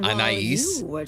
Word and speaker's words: Anais: Anais. That just sounds like an anus.